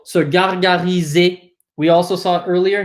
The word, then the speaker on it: gargariser: Anything that ends in an ER in French, like here, anything in ER that has an ER ending is pronounced E, right? So gargariser.